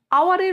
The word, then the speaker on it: hour: বি, আওয়ার, আওয়ারের উচ্চারণ হচ্ছে আওয়ার, ও দিয়ে হচ্ছে সেজন্য ও জানি আমরা ভাওয়েল উচ্চারণে, সেই জন্য আওয়ার যদিও এইচ দিয়ে HOUR আছে কিন্তু তবুও তার আগে অ্যান বসবে।